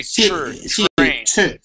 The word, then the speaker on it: train: We're not going to say T. Okay. We say ch like like a C t like like Yes. It's almost like a ch. It's almost like a ch. And we say train train.